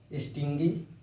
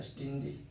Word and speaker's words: stingy: सही से इसका प्रोनाउंसिएशन लिखना है स्टिंजी, स्टिंजी, स्टिंजी।